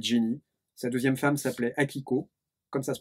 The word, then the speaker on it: Akiko: Sa deuxième femme s'appelait Akiko, comme ça se prononce.